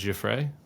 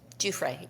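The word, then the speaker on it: Giuffre: Her name is pronounced Jeffrey. Jeffrey, yes.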